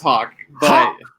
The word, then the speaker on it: Haack: heck hey guys yeah it's it's pronounced hog yeah yes hawk okay not a hack you're a exactly yes